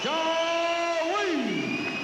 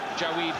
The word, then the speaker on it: Jawaid: He's improved fast as Jawaid Khaliq. That's how he says we have to pronounce it, not Jawaid, Jawaid.